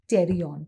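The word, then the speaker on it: pterion: which is called as terion please don't say the word p the letter P it is silent it's called as terion question is what is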